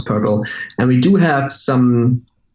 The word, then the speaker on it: PRPL: I should have mentioned it's actually prpl and just pronounce parallel and we do have